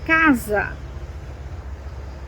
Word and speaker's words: casa: When you have just one S and it's between two vowels, it sounds like a Z. For example, casa, casa, which means house, casa, casa.